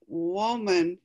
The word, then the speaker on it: woman: woman and man and woman it's not pronounced the same this is woman and this is man so the m-a-n part is not pronounced the same but this is the